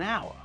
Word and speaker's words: hour: is pronounced as our we don't pronounce the H at the beginning of the word so when we say it it's more natural to say an hour with university uniform and